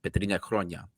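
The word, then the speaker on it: Πέτρινα Χρόνια: We have an era at Olympiacos that we called, in Greek, it's pronounced the Petrina Chronia, the stone years, as we like to translate it, where we didn't win the title for over 3 years.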